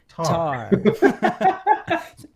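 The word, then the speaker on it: Tár: It's pronounced Tar.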